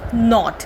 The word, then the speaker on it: knot: to bed tie the knot what do you mean by tying the knot now over here k is silent so we it is pronounced as not right so that is